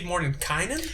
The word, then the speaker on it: Mordenkainen: I honestly think you could pronounce it both ways. I go Mordenkainen, and that's the right way. And if you want to pronounce it incorrectly, you can go with the other way.